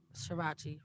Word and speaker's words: Srirachi: You know, I am nurse practitioner V and VEE Srirachi rhymes with Versace.